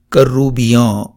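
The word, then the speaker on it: کرّوبیاں: ساتھ، فرشتہ۔ لفظ کروبی کی فارسی جمع ہے کروبیاں۔ کروبیاں ایک شعر جو غلطی سے علامہ اقبال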